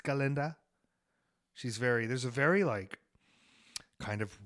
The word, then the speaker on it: Galinda: Wasn't Glenda. Wasn't Galinda. It's Galinda.